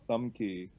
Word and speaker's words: Tam Ky: were actually are part of an organization called thumb key project it's thumb keys Vietnamese pronunciation but but I want to let Maggie